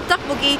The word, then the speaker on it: tteokbokki: So how do you pronounce tteokbokki?